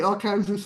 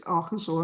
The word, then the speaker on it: Arkansas: But anyway, yeah, me as a foreigner, I would say our Kansas and they'll be like, "It's Arkansas." I mean, come on, people.